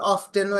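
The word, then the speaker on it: often: আপনি এটা রিদম পাবেন অফেন বললে বাতাসটা ফুস করে বের হয়ে যায় মুখ থেকে অফেন আর অফ বললে আপনি সাউন্ড যোগ করতেছেন আপনি একটা ধাক্কা মারতে পারতেছেন আপনারা ওয়ার্ডটা উচ্চারণ করতে সুবিধা হয়্যা এইজন্য ব্রিটিশরাই এই অফেন ও বলে আবার অফটেনও এখন ইদানিং বেশি বলে অফটেন এটা সেইম ওয়ে আমরা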